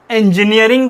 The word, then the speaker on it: engineering: इंजीनियरिंग इन तो वो इन नहीं है बल्कि एन है। ये इन नहीं है बल्कि एन है। इंजीनियरिंग। तो सही प्रोनाउंसिएशन इसका इंजीनियरिंग है या इंजीनियर बोलते हैं हम।